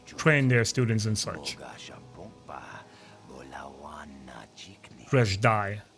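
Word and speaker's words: Dreshdae: It's a Sith Academy just outside the Rashad, where they train their students and such. Reshdai. Sorry guys, I mispronounced it. Reshdai. Make sure I get it right next time.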